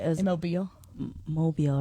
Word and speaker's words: Mobile: It's Mobile, not mobile, even though it's spelled mobile.